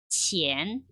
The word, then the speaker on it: 钱: 돈 전자 그대로 발음 한번 해볼게요. 钱, 钱.